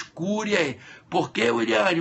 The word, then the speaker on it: curiae: Amicus curiae. Se escreve A-M-I-C-U-S, amicus Ah, isso aí fica até estranho, né?